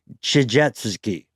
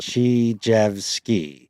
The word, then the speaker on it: Tchijevsky: This is a theory proposed by a guy named Alexander Tchijevsky. You nailed it. Chijvski. Let's see how we pronounce it in the episode.